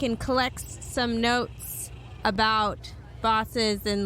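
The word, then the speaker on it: Baas: a fair amount so the boss and it's spelled a b-a-a-s the boss no one knows really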